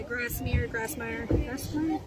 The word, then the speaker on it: Grassmier: Calvin Lynn Grassmier. Is that how you say it? Yeah, Grassmier.